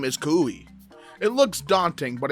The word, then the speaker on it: Kaui: It looks daunting, but it's just Ka-u-i. So, honestly, not very difficult in my opinion. Anyway, Miss White stumbled on my name when she read attendance. So, I did the usual, "Oh, it's pronounced Kaui."